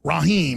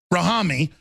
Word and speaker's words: Ahmad Khan Rahami: We have Ahmad Khan Rahim. Did I pronounce that right? Rahami. Ahmad Khan Rahami.